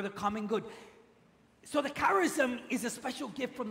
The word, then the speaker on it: charism: used for gifts with these special gifts is pronounced Charisma would you pronounce that with me Charisma in